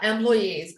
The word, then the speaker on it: employee: You say employee. So it's a long E and with an intonation, E, right?